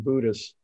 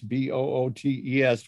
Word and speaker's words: Boötes: What does the double dots above the O kind of indicate, Tom? I think it's just indicating a syllable. It's not a German word. It's not an umlaut.